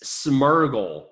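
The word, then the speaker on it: Smeargle: It's Smurgle is the Pokemon. It spelled the same way, but it has an R before the G.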